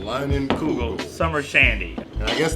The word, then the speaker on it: Leinenkugel: And to see So it's Leinenkugel. It's Leinenkugel. Kugel. The Leinie Lodge reunion. All right, that's what I wanted to know. I was not pronouncing it right, but it's Leinenkugel. Leinenkugel.